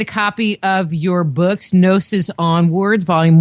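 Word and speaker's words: Gnosis: type in nosis onward nosis is spelled GN o s i s and your website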